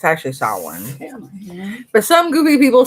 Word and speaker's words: Samhain: essentials rituals recipes and lores for halloween from salmon or samahan or how it's actually saw one family but some goofy people say something a